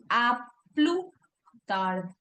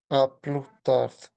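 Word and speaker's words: à plus tard: And then aplu tard. A plus We don't later.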